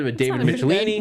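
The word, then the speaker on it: Michelinie: I don't know how you're supposed to pronounce it, but David Michelini. Michelini is how you say his name.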